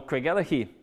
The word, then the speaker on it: Craigellachie: Or Craigellachie, which when you've got Americans asking for the road to Craigellachie, they ask for Craigellachie.